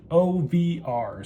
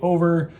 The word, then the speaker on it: OVR: of the company and the company is pronounced OVR so whenever you hear me say over or any other version